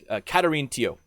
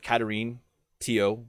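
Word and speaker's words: Catherine Théot: katherine or catherine and i can't come up with what the correct way is to pronounce it so i'm going with katarine teo because th's tend to be hard t sounds in french she was a religious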